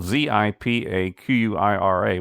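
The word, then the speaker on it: Zipaquirá: And Zipaquira is spelled Zipaquira, but it's pronounced Zipaquira.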